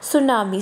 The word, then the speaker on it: tsunami: इसमें जो टी है वो साइलेंट है. हमने कई words you have read about studied about various word जिनमें फर्स्ट लेटर साइलेंट होता है और हम सेकंड जो अल्फ़ाबेट होता है उससे स्टार्ट करते हैं. तो इसमें भी टी जो है वो क्या है? साइलेंट है. एंड we will start with S. तो इसको क्या प्रोनाउंस करेंगे? सुनामी.